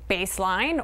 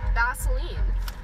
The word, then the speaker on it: Baseline: How do you pronounce this street name? Baseline, or do you maybe do it another way?